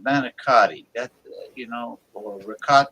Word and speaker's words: manicotti: tube right yeah yeah manicotti basic Bas yeah why do they say it like a manicot manot that's a slang that's just a Italian American slang James how how are